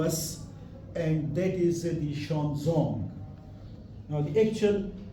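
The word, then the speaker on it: Xuanzang: Chinese pilgrim, in the past we call him Huan Sang, but this pronunciation is incorrect. Now, in last 5-6 years, the exact pronunciation of Huan Sang is now very clearly notable to us, and that is the Xuanzong.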